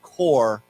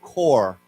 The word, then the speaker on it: corps: though there's no s, it's still pronounced core with no p. So, we say core. Okay. Yeah. Six, not corp. So, core.